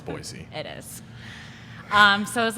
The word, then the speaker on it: Boise: Boise, by the way, for people that aren't living in Idaho, it's Boise.